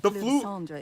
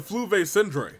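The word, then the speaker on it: Fleuve Cendre: also know that the FL Sandra is dangerous territory lots of hostile groups lurking around if you're serious about going there please be careful no no Jimma it's pronounced the flu V syndr understood Lynette you stay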